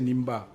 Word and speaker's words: Nimba: Donc Ndimba, je suis prêt à parier que beaucoup de gens ne savent pas que c'est Nimba.